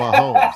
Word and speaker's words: Mahomes: Pat Mahomes. That's the 3 syllables.